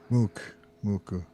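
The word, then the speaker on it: MUCC: Mook. How do you say this again? Muku? Muku.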